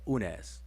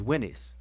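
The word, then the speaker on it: Unas: in ancient Egypt, they call him Winnie or Winnis or Unes, right? But his name is Winnis.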